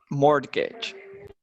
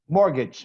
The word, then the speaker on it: mortgage: What is mortgage? Mortgage, you don't pronounce the T, mortgage.